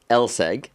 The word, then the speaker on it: LSEG: Well thank you very very much for having us at the London Stock Exchange or Lseg, right?